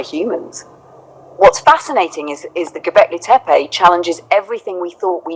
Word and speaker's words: Göbekli Tepe: It's pronounced roughly like Göbekli Tepe, and it's truly one of the most astonishing discoveries in modern archaeology.